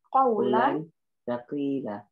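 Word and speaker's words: قولا ثقيلا: Qawla saqila. Ya, kalau satu-satu dibaca qawlan Saqila. Saqilan. Ya, nggak usah pakai ya kadang kalau berhenti kan memang saqila.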